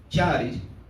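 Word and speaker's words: χάρις: connotación otra connotación tiene se pronuncia de otra forma es la palabra yaris qué significado regalo gracias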